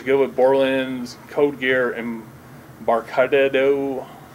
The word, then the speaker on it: Embarcadero: They're looking for a new coder, so if you know somebody who's good with Borland's Code Gear, Embarcadero. How do you pronounce that? Embarcadero.